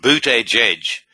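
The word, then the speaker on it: Buttigieg: name looks like but I took the trouble of looking at amber to pronounce boot age age apparently according to a news merica newspaper I can't quite understand how you can get booted out of that spelling but far be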